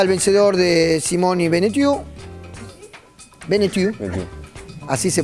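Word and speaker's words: Benneteau: Beneu, así se pronuncia y estaba preocupado el curso por meteorito.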